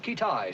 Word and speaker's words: Keetage: Pronounced Kittai, sir.